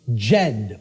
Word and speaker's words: Djed: See, this is an initiate inside what was known as the Jed or the Djed pillars, depending on how certain people pronounce it.